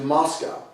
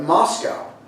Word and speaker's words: Moscow: I said only half-jokingly at the time that Moscow, pronounced in English, sounds similar to must go, and so I had to go.